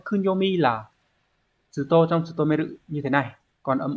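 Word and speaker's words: 務める: Như vậy chữ vụ sẽ đọc là tsutomeru.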